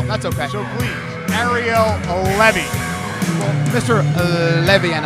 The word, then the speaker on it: Levy: The pronunciation of his name is Levy. He's very touchy about that. Well, that's okay. So please, Ariel Levy.